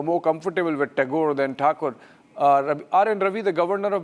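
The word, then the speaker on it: Thakur: uh you know the the Bengali prefer to call him Tagore uh originally Takur and uh in Hindi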